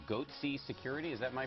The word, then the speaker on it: goatse: gaping security flaw here foreign they're called goat sea security is that my pronouncing that correctly yeah that's right we're analyzing